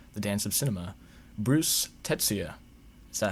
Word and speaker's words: Tetsuya: instagram film page the dance of cinema bruce tetsuya is that how i pronounce it your man absolutely correct yeah all